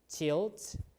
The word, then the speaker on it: cild: So as a result, words like CILD in Old English, which is pronounced like chilled in Old English, this is Old English.